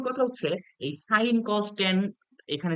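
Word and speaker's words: tan: অংক করার সময় আমরা লিখবো টান এটাকে আমরা উচ্চারণ করবো টান আচ্ছা এরপরে কোটানজেন্ট কে আমরা সংক্ষেপে উচ্চারণ করব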